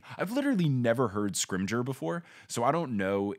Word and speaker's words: Scrimgeour: fudge says that the new minister is named scrim Gower which is not a name is that how it's pronounced is it screams Oh Scrimgeour okay yeah regardless not a name again made-up